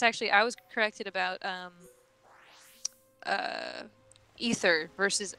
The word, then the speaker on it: aether: is ether but like taking the a off of it doesn't have to change the pronunciation in English because English is a